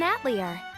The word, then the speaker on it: atelier: Here, she runs an atelier, using the alchemy she learned from her late grandmother. I forgot that's how they pronounced it in the English. It should be Atelier, but you know what?